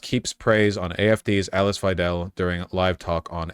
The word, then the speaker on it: Weidel: He mispronounced the party leader's name as Weedle throughout the encounter.